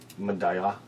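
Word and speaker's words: Medalla: way you save Medallia but it's spelt Medallia in Spanish and the ll is like a Y Madiha my god [ __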